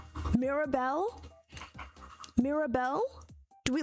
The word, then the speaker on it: Mirabel: My name is Mirabel. Mirabel. Mirabel. Do we like that? I think I feel like she said it better that time. My name is Mirabel.